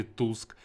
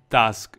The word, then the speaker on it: Tusk: банить Кстати хотел заметить Многие думают Как правильно говорится или таск или Туск правильно говорить таск именно так в оригинальной озвучке он называет сам себя таск Ну что ж поехали